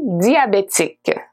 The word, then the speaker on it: diabétique: The E at the end of diabetic, we don't pronounce it so much, okay?